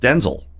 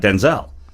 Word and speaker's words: Denzel: So Denzel Washington was being interviewed by somebody, and he said, "Actually, my name is pronounced Denzel, not Denzel."